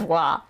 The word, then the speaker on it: は: it is particle law it is pronounced as if there's a w there sometimes depending on how